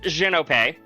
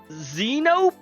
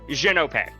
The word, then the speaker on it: Xhin: My name is pronounced Xenop. Uh, in case you were curious because a lot of people look at my name and go Xenop. No, Xenop. That is how you pronounce it.